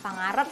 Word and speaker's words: Pangarep: Jadi kalau teman-teman tahu Kaesang Pangarep atau Pangarep sih bacanya? Pangarep ya.